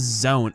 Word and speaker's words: Z-one: So, his English name is Z-1, but it's pronounced as Zone.